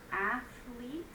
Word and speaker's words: athlete: Number 5, athlete is 2 syllables. Again, the TH sound is one sound, so maybe that's why it was confusing.